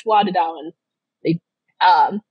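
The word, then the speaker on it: Tuatha Dé Danann: And I just realized I mispronounced it. I had a guy from Ireland tell me it's Tuatha De Danann.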